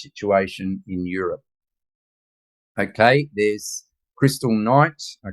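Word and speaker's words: Kristallnacht: was the Jewish situation in Europe okay there's Crystal Knight a Crystal Knight as the Germans pronounce it there's the uh sa okay and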